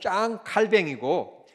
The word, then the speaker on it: 칼빈: 왜 이렇게 발음하시는줄 모르겠어요. 이게 프랑스어거든요. 프랑스 말로는 짱 칼뱅이고 영어로 얘기하면 존 칼빈이거든요.이 이 세계 만국어 즉 세계 통용어가 영어이기 때문에 그냥 좋은 칼빈이라고 하면 좋아요.